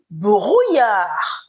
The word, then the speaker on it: brouillard: Most words in French with double L, pardon me, make the sound yi instead of So I'm not saying il y a du brouillard.